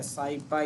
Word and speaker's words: SciPy: SciPy, इसको SciPy ही pronounce करते हैं।